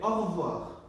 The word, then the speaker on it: au revoir: তাহলে সঠিকভাবে যদি আমি এটাকে উচ্চারণ করি তাহলে এটা হয়ে যায় হচ্ছে au revoir, au revoir, au revoir, au revoir, au revoir, তাহলে হয়ে যাবে au revoir হয়ে যাবে, আবার দেখা হবে বলার ক্ষেত্রে।